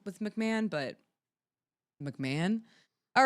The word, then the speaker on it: McMahon: McMahon. Vince McMahon. Yeah. Yeah. Okay. God McMahon. I have a joke last name. No offense to anybody who actually knows a chill last name with McMahon.